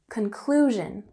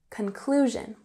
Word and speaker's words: conclusion: So in conclusion, with emphasis on the second syllable, conclusion, conclusion.